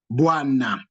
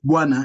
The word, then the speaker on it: bwana: So it becomes bua, bua, buana. So you can have a syllable like that, buana. So the na is made up of one consonant and one vowel as the last syllable, na.